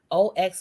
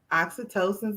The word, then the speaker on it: oxytocin: a hormone called i don't know how you pronounce this oxy it's o-x-y-t-o-c-i-n oxytocin oxytocin you're familiar yes bonding hormone for